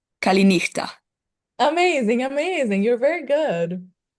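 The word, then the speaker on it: καληνύχτα: Um, Kalispera and the good night word I don't know how to pronounce. It's Kalina. Kalina.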